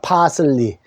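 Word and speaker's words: parsley: 글씨가 똑같아요 억양이 같습니다 파슬리 근데 영어에서는 파슬리 이렇게 읽어요 팔을 크게 하고 뒤에를 쓸리 짧게 근데 우리는 파슬리 똑같은데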